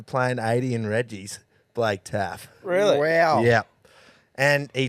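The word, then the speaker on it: Taaffe: Blake Taffy. It's Taff. Taff. Yeah, that'll do.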